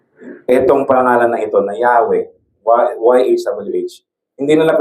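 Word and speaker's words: Yahweh: Pangalan niya is yh whangalam na pronunciation but it is pronounced as Yahwe.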